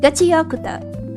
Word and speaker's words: Gachiakuta: Gachiakuta.